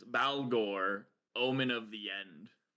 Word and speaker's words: Baalghor: his name, but it's Balore, Omen of the End. I I think that whenever it's B A, it's like Bale Bale. I think Gore Bale Gore.